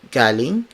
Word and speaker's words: galing: Galing, spelled as G-A-L-I-N-G.